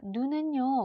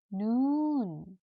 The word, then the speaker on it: 눈: 자, 눈은요, 우리 눈이라고 쓰고요. 두 가지로 읽지요. 눈 혹은 눈. 자, 장단이 있습니다. 겨울에는 눈이 옵니다. 그 다음, 눈이 아파요. 자, 이렇게 길고 짧게 발음하는 것도 익혀주시기 바랍니다.